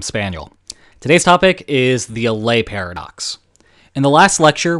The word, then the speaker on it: Allais: Maurice Allais was French, just like Marquis de Condorcet. That's why his name is pronounced Allais. And really, that's your first lesson for today, is that if you're ever saying his name in public, you should say it as Allais and indicate that you know how to pronounce it correctly.